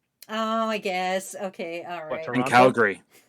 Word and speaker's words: Calgary: i guess okay from calgary calgary it's supposed to be calgary it's calgary i say calgary if you're i'm not free if you're from calgary you don't really pronounce the second a if you're if like